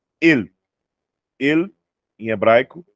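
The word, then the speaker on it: אל: Nós temos aqui a pronúncia El.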